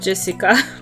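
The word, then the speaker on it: 朱志香: You see, it's pronounced Jessica.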